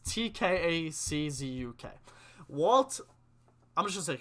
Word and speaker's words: Tkaczuk: Walt Kachuk? It was. Alright, I don't think that's how you pronounce his last name. It's Tkaczuk.